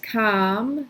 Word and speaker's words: kam: So ich kam is then you, the vowel sounds different from English, a came versus a, but the letter is the same. So you can see how they do share an etymological ancestor. So ich kam, du kamst.